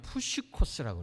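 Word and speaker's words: ψυχικός: 헬라어로는요, 푸시코스라고 그래요. 푸시코스. 뭐라고요? 푸시코스. 여러분 발음도 좋으시네요.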